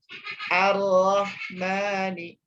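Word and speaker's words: الرحمن: Ini lamnya ada di sini, lamnya alnya ada, lamnya ada, tetapi karena bertemu dengan huruf ro, ya, bertemu dengan huruf ro, maka hurufnya melebur, langsung dibacanya langsung ke huruf ro.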